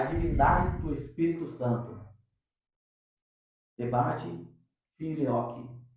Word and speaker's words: filioque: Debate filioque. É isso mesmo, filioque? A pronúncia está certa?